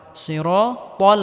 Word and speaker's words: الصراط: ইহদিনাস সিরাতাল ত মোটা করে উচ্চারণ করতে হবে, তাল হবে না, সিরাতাল হবে।